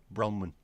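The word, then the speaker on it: Branwen: Wales is that bronwin is it pronounced bronwin or branwin bronwin is the goddess of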